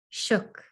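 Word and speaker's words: suk: Shook, a human being. Afognac dialect, the S is pronounced shh. It sounds like shook, but with a shorter O.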